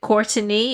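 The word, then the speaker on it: Courteney: with george floyd's girlfriend courtney that's how she pronounced it courtney and there is an extra e in her name uh ross and she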